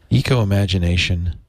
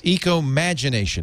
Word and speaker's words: ecomagination: it's coming up yes ecomagination no I I'm sorry I said it wrong yes I have my